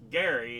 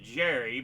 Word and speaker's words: Gerry: Yes, his name is actually pronounced Gary instead of Jerry, but of course it became Jerry Mander.